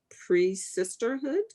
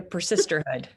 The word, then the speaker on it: persisterhood: But I just want to say, I heard this term, is it pre-sisterhood? Is that how you say it? The persisterhood. Persisterhood.